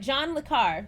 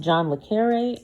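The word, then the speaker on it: John le Carré: he making things right with Africa all right John le Carr this is actually pronounced John le carre um I did not realize that at the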